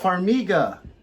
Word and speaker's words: Farmiga: Farmiga.